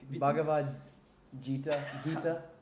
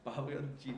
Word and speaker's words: Bhagavad Gita: I mean, your conclusions for both the how do you pronounce it? Bhagavad Gita. Bhagavad Gita.